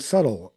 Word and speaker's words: subtle: And so they added extra letters like the B in debt and subtle and all of Dumpa. all of those letters that you don't pronounce in a word Yeah.